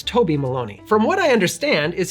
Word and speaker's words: Toby Maloney: For the longest time, I actually thought his name was Tony Maloney because it rhymes, and I just thought that that would be a fun name, Tony Maloney, but it's not, it's Toby Maloney.